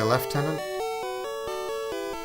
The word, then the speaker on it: lieutenant: I'm supposed to say left tenant, but that's never made sense to me saying left tenant.